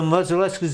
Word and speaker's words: Modzeleski: Modzeleskis in Suffield, our Right. cousins. Okay. They pronounce their name just a little bit different.